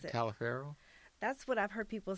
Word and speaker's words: Taliaferro: Taliaferro? That's what I've heard people say, Taliaferro, and I was going to say that, but someone said, "Oh, that's pronounced Talifer."